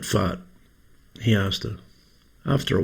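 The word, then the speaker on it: Fahat: Oh, Farad, said the doctor understanding. No, no, no, said Floreshine. It's pronounced fart.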